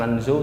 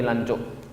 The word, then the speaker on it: Lanzhou: Ini bacanya bukan Lanzhou tapi Lancuk.